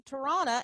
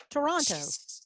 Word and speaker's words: Toronto: that everywhere and uh toronto do you want me to say toronto that's not how they say it they say toronto they say toronto toronto all kind of merges stop stop being educational